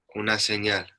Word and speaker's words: Una señal: How do you say it authentically? Una señal.